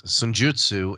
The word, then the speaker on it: Senjutsu: Foo Fighters' Medicine at Midnight or Iron Maiden's Senjutsu, or whatever the hell you pronounce, however the hell you pronounce it. Okay, so it's Senjutsu, and I would think that it's the Foo Fighters.